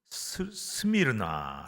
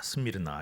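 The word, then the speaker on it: Smyrna: 도시가 있습니다 소모나라 그 우리나라 성경에는 그렇게 한글로 어 발음을 합니다마는 있는 그대로 읽으면 스미르나 스미르나 이렇게 읽을 수가 있어요 영어 식으로도 근데이 소모라는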